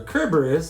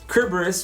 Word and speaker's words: Kerberos: things like Griffin there's a Cerberus or a Kerberos if you want to pronounce it the proper Greek way Kerberos meaning spotted his name is literally